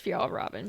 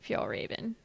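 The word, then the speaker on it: Fjällräven: And it is pronounced Fial Robin because I always say F Raven.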